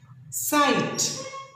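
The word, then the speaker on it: sight: साइट एस आई जी एच टी. साइट कैसे pronounce करेंगे? इसे उच्चारण कैसे करेंगे? एस आई जी एच टी. साइट. यहां देखिए आई जी एच का यूज हुआ है ना बच्चों?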